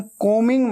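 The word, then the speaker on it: combing: आप बाल बना रहे हैं, आई एम कोमिंग my hair, कोमिंग, कोमिंग ऐसे बोलना है, ठीक है। बी हमेशा साइलेंट होता है, स्पेलिंग में आता है लेकिन बोलते वक्त उच्चारण में नहीं आता, प्रोनाउंसिएशन में नहीं आता।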